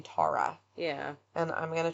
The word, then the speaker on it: Tara: this up is because I've always pronounced this name Tara, like Sarah. Yeah. but I watched her family talk about her on Unsolved Mysteries, and they pronounce her name Tara.